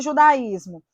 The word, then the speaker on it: judaísmo: já Vimos que possui judaísmo juda ismo ajuda aí tônico é hiato é a segunda está